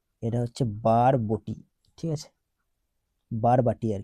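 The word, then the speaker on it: Barabati: গেছে বানানটা এটা হচ্ছে বারবটি ঠিক আছে বারবাটি আর কি বারবাটি এটা বারবাটি বারাবতী হয়ে গেছে এখানে বারাবতি না বারবাটি বারবাটি স্টেডিয়াম কোথায় আছে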